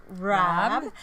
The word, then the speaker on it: Raabe: So again, that pattern is by Layla Raab, and her last name is spelled Raabe if you're looking for.